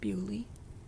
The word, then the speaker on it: Beaulieu: It's obviously Beaulieu, which means beautiful place. It just translates as, like, beautiful place, but they pronounce it Bewley.